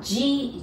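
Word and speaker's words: ぢ: Da, ji, zu, de, do.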